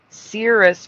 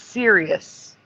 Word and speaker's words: Sirius: Cirrus versus Sirius. Yeah. It's Sirius.